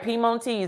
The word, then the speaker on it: Piemontese: And it's from, and I'm going to try to pronunciate this, Piemontese. Look, Piemonte. That's what it is. Well, you know what? You're exactly right. Piemontese. That's exactly what the pronunciation is.